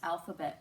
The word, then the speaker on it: alphabet: Our first word is alphabet. We have alphabet. Okay, we have 3 syllables. The first syllable is al. Second syllable is we're going to have a schwa there, and the last syllable is b-at.